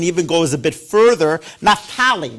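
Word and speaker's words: Naphtali: pronounced his name uh Nakman Wesserly who takes his ideas and even goes a bit further. Natali, not Nakman.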